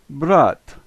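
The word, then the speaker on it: брат: just like ours and so this word is brought but the first second and third letters in this word are pronounced just like we would pronounce them Tok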